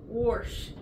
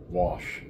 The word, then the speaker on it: wash: Warsh. Wash. No R in wash.